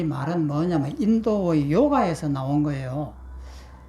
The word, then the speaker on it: 요가: 육아라고 하는 이 말은 뭐냐면 인도의 요가에서 나온 거예요. 그 원래는 요가사인데 이것을 중국 발음으로 육아라고 이렇게 돼 있지만 실제는 발음이 요가입니다.